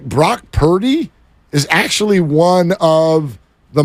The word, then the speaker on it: Purdy: Like Brock Purdy is actually one of the most playable, fun names for an athlete. Like, think of all the Purdy puns. How about the fact that it rhymes with 30 and they score it every time?